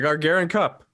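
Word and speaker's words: Gagarin Cup: Pronounce the name of the cup. Go ahead. The Gargarian Cup.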